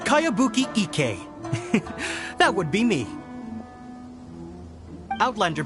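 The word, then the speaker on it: Kayabuki Ikkei: By Kawabunga Iki. Yonia, this is a really strange name. Who's this Kawabunga? It's pronounced Kayabuki Ike.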